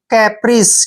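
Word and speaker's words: caprice: पर कैसे करना है जब भी सी एई इकट्ठा आता है तो हम सी का उच्चारण क करते हैं सी को पढ़ेंगे क और ए को ए की मात्रा पढ़ते हैं पी को प पढ़ते हैं और आर को र पढ़ेंगे और आई को जो है ई की मात्रा पढ़ते हैं और सीई को स कैप्रीस क्या पढ़ेंगे इसको कैप्रीस कैप्रीस होता है मोज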